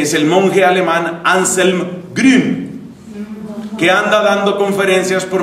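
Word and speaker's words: Grün: conocidos así recientemente Es el monje alemán anselm gren que anda dando conferencias por medio mundo yo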